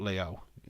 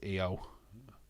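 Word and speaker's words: Iyo: wrong I like really she's not called Leo no mate no not Leo it's EO oh my God uh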